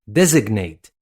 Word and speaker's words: designate: Designate. Designate is spelled D-E-S-I-G-N-A-T-E.